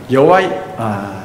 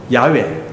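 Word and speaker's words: Yahweh: 함부로 말하지는 않습니다 한 분을 말하지 않습니다 여러분 여호와 하나님의 이름은 야훼 아주 정확한 바람이 야외 그리고 우리가 쓰고 있는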